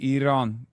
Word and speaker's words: Iran: In Turkey, we say Iran. Iran. Iran is closer to how you say it.